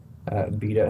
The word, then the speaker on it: Beto: How do you pronounce it? Beto. His name's like Robert. But Vito's like a nickname. That was Beto.